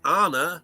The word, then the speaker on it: Arne: His name is, you got to say Arne like banana, okay? And it will work. Yeah. You got to say it with the accent, though. Otherwise, it's wrong. Yeah, Arne.